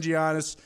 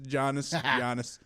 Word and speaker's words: Giannis: Apparently the G is silent, but like Zito has said, I've heard it both ways. Giannis.